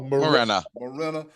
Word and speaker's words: Menara: He just told you 10 seconds ago how to pronounce that man's last name. Ain't it Menara? Oh, Morena.